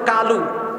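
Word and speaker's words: قالوا: আবার বলতেছে কালু, অথচ আরবিতে 7টা অক্ষর মোটা হয়, মোটা হয় না? এর মধ্যে একটা অক্ষর হলো কফ, এটা কালু না, এটা হলো কি কলু।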